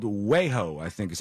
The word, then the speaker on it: Wejo: They did this with this company called Wejo, I think is how you pronounce it, W-E-J-O.